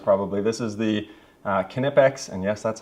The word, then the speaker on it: Knipex: in my videos probably this is the uh knipex and yes that's how you pronounce it I've looked a lot I've been